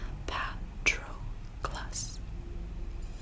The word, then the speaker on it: Patroclus: Patroclus. Achilles did not slur my name, as people often did, running it together as if in a hurry to be rid of it. Instead, he rang each syllable. Patroclus.